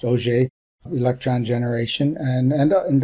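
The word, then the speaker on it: Auger: also multiparticle processes like OJ a u g e r pronounced OJ electron generation and and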